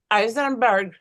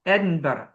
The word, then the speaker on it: Edinburgh: Uh Eisenberg. No, Edinburgh.